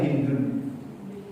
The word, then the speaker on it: Hind: Hind itu cara bacanya Hindun. Orang Arab itu sebenarnya jarang membacanya dengan Hindun. Cuma orang Indonesia saja Hindun.